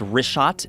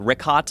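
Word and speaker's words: Richat: first couple I just want to say it's rot I used to call it Riot I was mispronouncing it but let me ask you this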